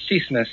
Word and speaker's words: Chismes: Cat 6 Chismes, yes. Chismes is a slang Spanish word used by most Puerto Ricans in New York, and it's basically gossip, right?